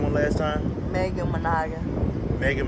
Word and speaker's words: Manogin: Megan Managan. Megan Manaya? Managan. How do you spell that?